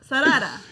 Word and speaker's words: Sarada: Naruto's son, Boruto, which Xander is better at pronouncing than I am, and Sasuke and Sakura's daughter, Sarada. Nailed it. No. Sarada.